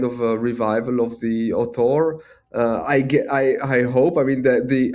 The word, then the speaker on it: auteur: be some kind of a revival of the auteur.